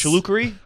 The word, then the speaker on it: Chilukuri: Usha Chimichurri Vance. Chilukuri?